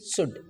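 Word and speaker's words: should: वड और एस एच ओ यू एल डी शुड तो फ्रेंड्स यह रूल आप ध्यान रखिए और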